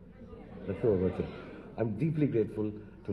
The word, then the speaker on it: La Trobe: Do I pronounce it right? La Trobe. La Trobe, okay.